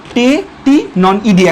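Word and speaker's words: Tettigoniidae: সো টেটিনন ইডিয়া, idea না, এটার উচ্চারণ ইডিয়া, টেটিনন ইডিয়া।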